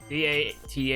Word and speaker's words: Date: like date but ja in Japan they pronounce it they pronounce date as dat as a name right after that you